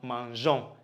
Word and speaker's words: mangeons: You bring a silent E before the ONS to make it sound mangeons instead of what?